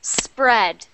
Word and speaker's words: spread: practice those r sounds that one is pronounced spread spread so not spread not spread but spread my tongue is far back and it is not moving do not let your